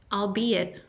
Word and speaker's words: albeit: the stagnation pressure is albeit albeit Como all be it I'll be it I'll